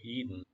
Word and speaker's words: Eden: 이 단어도 Eden이라고 하셔도 되고요. D 글자를 무음으로 Eden 이렇게 하셔도 됩니다. 근데 제가 생각하기에는 미국 발음을 해서 Eden이라고 하는 게 더 쉬우실 거예요.